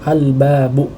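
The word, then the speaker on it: الباب: Karena dia diucapkan dengan sukun, ya, pada huruf lamnya, ya, di sini kan ada huruf lam, ya, sehingga kita ucapkan dengan sukun, ya, sehingga dibacanya al-babu, ya.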